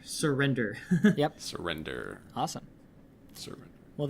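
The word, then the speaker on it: SirWrender: And so you can find me at Surrender, which is a bit of a pun, so I have to spell it. So it's SIR and then my name and then DER. Surrender.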